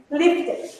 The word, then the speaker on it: lifted: Why? Because you have a final sound like T. And in this case, you have to pronounce ed. You have to make the entire sound to make possible the understanding and the comprehension of the past.